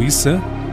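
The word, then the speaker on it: عيسى: na visão do islamismo Jesus ou is como é pronunciado no Islã seria apenas mais um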